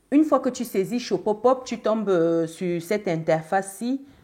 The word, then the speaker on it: Shopopop: Shopopop, ça s'écrit S-H-O-P-O-P-O-P.